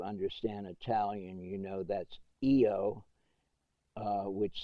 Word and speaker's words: io: o which is not eo but in italian the first person singular for i is pronounced eo in other words in